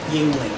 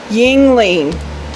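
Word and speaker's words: Yuengling: Yingling. Yingling.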